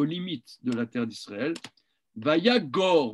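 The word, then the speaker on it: וַיָּגָר: Vayagor, moi je prononce Yagor, je ne sais pas exactement si c'est bien une bonne prononciation, mais je pense que oui, que lorsqu'il y a deux kamats comme ça, le deuxième se prononce O.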